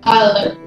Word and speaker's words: island: Island is S.